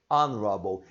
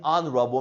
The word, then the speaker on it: honorable: Our, honest, air, airship, honorable. Elas iniciam com H, mas você não vai pronunciar este H.